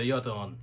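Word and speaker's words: yataghan: So rather yaton. There you go. Soft G. I mean, this is coming from the same people who throat sing. So a lot of those sounds. Well, that also translates into words, right? So, it's not yet, it's yet. Very soft G.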